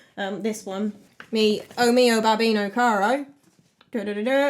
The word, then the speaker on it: babbino: this one me omeo babbino caro da da i think i said bambino in the last video oh mio bambino caro